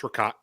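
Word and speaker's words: ricotta: Jim I'll start there is it rata rot rot um what is it to you and you look down upon those peasants who mispronounce this word no I don't that's not why I look down people no it it's Rott right it's how I grew up grew up with it um there's no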